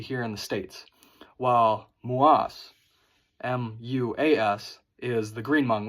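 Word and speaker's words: Moua: Her last name, Mua, spelled M-O-U-A, is white Hmong. That is the traditional Hmong we hear in the States. While Muas, M-U-A-S, is the green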